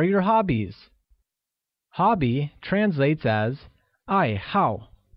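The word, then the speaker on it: 爱好: hobbies hobby translates as I how which is pronounced with a falling tone on both a z' once again it's I how good note that the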